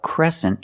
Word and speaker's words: crescent: This is a crescent shape. And this word has a different pronunciation. E. Make the e sound like eggs and bed.